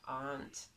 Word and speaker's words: aren't: Ricordatevi che aren't scritto arendt, è il verbo al plurale, ant, ma noi sappiamo che si pronuncia ant.